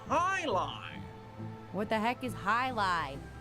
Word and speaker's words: jai alai: okay heck is jai-alai it's pronounced Highline what the heck is